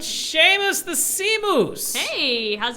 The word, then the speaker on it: Seamus: Seamus the Sea Moose.